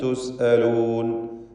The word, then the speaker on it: تسألون: ഇലാ മാ ഉത്രിഫ്തും ഫീഹി വമസാകിനികും ലഅല്ലകും തുസ്അലൂൻ, സാക്കിനത്ത മീം ആവർത്തിച്ച് വരുന്നു. എല്ലാം ഇൽഹാർ ഷഫവി നൽകി മണിക്കാതെ വെളിവാക്കണം. വമസാകിനികും ലഅല്ലകും തുസ്അലൂൻ, തുസ്അലൂൻ, ഹംസ ശിദ്ദത്തോടു കൂടി ഉച്ചരിക്കുക.